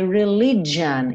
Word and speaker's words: religion: Losing my religion. Esse G do religion é J, como se fosse um DJ, tá?